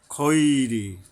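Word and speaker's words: الخير: ওয়া ইন্নাহু লিহুব্বিল খৈরি লাশাদীদ, খৈরি, খ আকার হবে না, হরফ ইস্তেওয়ালা।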